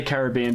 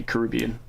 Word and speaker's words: Caribbean: And yes, I say Caribbean because I'm Australian. It's Americans say Caribbean.